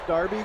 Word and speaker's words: Derby: wants me to pronounce darby county i know it's darby even though it looks like derby so maybe i'm cheating